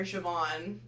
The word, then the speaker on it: Siobhan: worse than you, and that is Jim's sister, Siobhan. Oh yeah, I was not gonna pronounce her name.